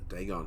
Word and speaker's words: Dagon: Dagon, that's how you say it.